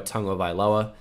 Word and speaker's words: Tagovailoa: going to be Tua Tagovailoa. It's annoying that it's Tagovailoa. I've been saying this quite a bit. It's not Tagovailoa. I know it looks like it, but he pronounces it Tagovailoa.